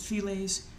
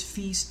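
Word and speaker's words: Filles: Speaking of Feast to Kilimanjaro, I don't know why some people pronounce it Files. It's French, it's Feast, the L's are silent.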